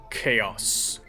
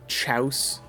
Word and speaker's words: chaos: feed I believe chaos did anyone as a child pronounce that as uh Chow I had several friends that did and they would swear up and down that's how you're supposed to pronounce it it's kind of the